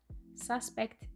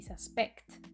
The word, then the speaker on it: suspect: En la pronunciación sí que se diferencian porque los sustantivos tienen el acento en la primera sílaba y los verbos en la última.